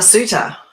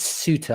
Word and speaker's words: Soutter: your surname please uh suitor it's suitor i thought it was